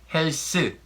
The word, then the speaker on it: 헬스: The pronunciation is a little bit different, well, because there is no th sound in Korean, so people say it 헬스. So when you say 헬스 하다, the literal translation, do health, that means you work out.